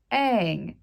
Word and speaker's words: Aang: And then we have Aang. It's spelled A-A-N-G. How would you pronounce that besides Aang?